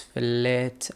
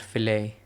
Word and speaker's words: fillet: I hope it's pronounced as fillet and not filt. Let me check. It is indeed pronounced fillet, not filt.